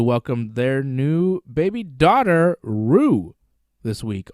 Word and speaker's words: Roux: their new baby daughter roo this week r-o-u-x i think it's pronounced rue that's their daughter that